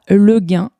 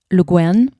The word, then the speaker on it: Le Guin: C'est un poème de Ursula Le Guin, je crois que ça se prononce comme ça en français. En américain, puisqu'elle est américaine, vous diriez Ursula Le Guin, Ursula K. Le Guin, plus précisément.